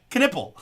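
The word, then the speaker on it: Knueppel: It's Canipple. Although I heard someone say Canel today and I thought oh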